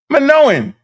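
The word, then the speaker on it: Minoans: Manowans. Yeah, I'm saying it right. Manoan.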